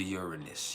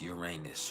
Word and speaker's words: Uranus: moon is conjunct to Uranus Uranus or Uranus depending on how you want to pronounce it but uh let me